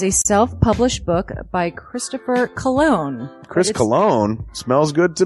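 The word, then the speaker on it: Colon: It is a self-published book by Christopher Cologne. Chris Cologne? Smells good to me. But look at her. That broke that fucking cold little exterior. He's like, hee. But it is spelled C-O-L-O-N. Him punny.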